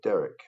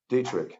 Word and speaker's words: Detrick: The problem is that when you do that, there is no lab on Earth, not even for Detrick. I'm sure I'm mispronouncing it here. Dietrich. Dietrich, that's correct.